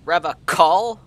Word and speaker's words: Revachol: something going on here he said rev a call i like to pronounce it the hard way the old way the vespertine way crypto fastest indeed trying